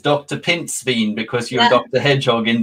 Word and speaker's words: pindsvin: So this is a pindsvin. Pindsvin. Yes. Okay, because I have seen as well that you've got a t-shirt that says Dr. Pindsvin because you're Dr.